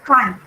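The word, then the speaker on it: χ: It is pronounced as chi.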